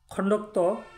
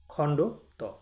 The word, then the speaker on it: খণ্ড ত: এই বর্ণটিকে অনেকে খণ্ডক্ত বলে থাকে। প্রকৃতপক্ষে বর্ণটির বর্ণপরিচয় হলো খণ্ড ত, মানে খণ্ড বলে তারপরে ত উচ্চারণ করতে হবে। খণ্ডক্ত একবারে বলা যাবে না, বললে এটি ভুল উচ্চারণ হবে।